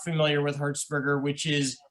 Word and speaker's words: Hertzberger: are not familiar with herzberger which is spelled like the electric hertz h-e-r-t-z burger b-e-r-g-e-r in my book he's